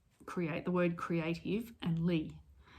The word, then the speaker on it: Leigh: So it's the word creative and Lee. And Lee is spelled Leigh.